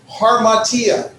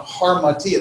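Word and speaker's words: ἁμαρτία: You're going to add an H sound to it. So harmatia. Well, there's no H in the spelling, but it has a rough breathing, so it's H-A, martia. And so you pronounce it with the H sound, harmatia, that means sin.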